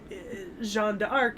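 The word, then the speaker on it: Jeanne d'Arc: uh jonah well because joan of arc is her anglicized name and that's fine but john de arc is the more french pronunciation but i think you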